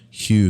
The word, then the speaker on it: HU: with instructions on chanting the Hue pronounced like the name Hugh this was described as